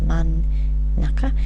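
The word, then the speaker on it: 真ん中: the middle it's pronounced man Naka notice you've got to put the N there in hi and you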